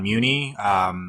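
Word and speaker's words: Mewni: see he has his cape already, and he says it's pronounced Muni.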